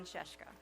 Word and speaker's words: Scieszka: hear about his work so please welcome John sheshka wow thanks guys and actually you've done the